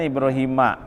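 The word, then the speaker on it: إبراهيم: Paulus II Hai Hanifa Hai nilai premi ya dibacanya ibroohiima Ini namanya jadi pegawai munshorif akhir munshorif tapi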